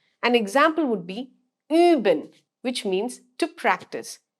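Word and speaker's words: üben: you pronounced in it that's the similar way that you with two dots on top of it is pronounced in german an example would be uben which means to practice uben now let me introduce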